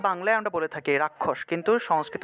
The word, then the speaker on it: রক্ষা: যে জায়গাতে আমরা ক্ষীয়টা পেয়েছি এই অক্ষরের পরিবর্তে ক যোগ মূর্ধন্য ষ চলে আসবে, অর্থাৎ ক উচ্চারিত হবে তারপরে স উচ্চারিত হবে।